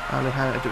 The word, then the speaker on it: Alejandro: J is pronounced H. Yeah. Alejandro. It's Spanish, I imagine.